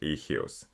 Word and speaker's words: eius: The genitive for all three sounds like ehyus.